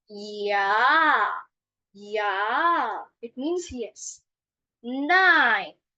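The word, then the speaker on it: nein: Nine. Nine. It means no. Just pronounce it the way you speak nine.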